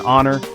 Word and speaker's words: honor: The K in night, the G in gnome, the H in honor.